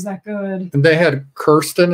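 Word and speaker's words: Kirsten: good and they had Kiren is how you pronounce it kir kir I called it Kristen it's Kiren dun and she played uh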